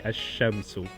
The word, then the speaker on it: الشمس: And when you don't pronounce the al, it merges in, is a sun letter. Say الشمس, sun.